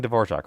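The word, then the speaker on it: Dvořák: I'm pronouncing D'vorjac right because if I found out right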